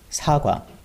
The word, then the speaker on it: 사과: Apple is 사과 in Korean, and the pronunciation is 사 and 과. 사과.